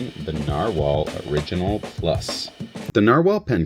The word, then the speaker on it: Nahvalur: what some people say navalore which is n a h v a l Ur however that is Icelandic for narwhal so it's pronounced the same so even the new brand it's pronounced narwhal that change was in